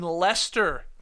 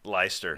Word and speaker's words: Leicester: that's from Will in the UK specifically in Leicester that's how it's pronounced not the soccer team is not leister no I was a liester on the show yesterday my bad my bad